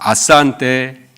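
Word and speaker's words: asante: 아산테, 아산테. 영어는 아시다시피 악센트가 어디에 있는지 악센트까지 외워야 돼요. 발음 기호까지 외워야 되는데, 감사하게도 스왈리어는 그냥 철자 그대로 읽으면 되고요. 악센트는 무조건 뒤에서 2번째 모음에 있어요.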